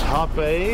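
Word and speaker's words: Hout Bay: So this is Hot Bay in front of us. Hot Bay is spelled H-O-U-T, which means wood.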